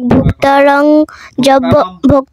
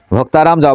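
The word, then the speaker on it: ভোক্তারম্: অধ্যায় 29 নং শ্লোক ভোক্তারং যজ্ঞ তপস্যং সর্বলোক মহেশ্বর সুহৃদম সর্বভূতানাম জ্ঞাতা মাম শান্তি মৃচ্ছতি। তোমার একটু বাজে হয় না, দেখো এখানে ভোক্তা রং না রম, অনুস্বরের উচ্চারণ কি হবে? ম, ঠিক আছে?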